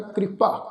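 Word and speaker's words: ਕ੍ਰਿਪਾ: कृपा निधान कक्के नूं सिहारी, कक्के दे पैर विच अद्धा रारा वा, इस शब्द का उच्चारण करांगे कृपा।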